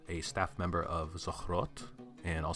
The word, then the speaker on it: Zochrot: Armada ethical body a staff member of the throat and I'll spell that out for you that's Z OC h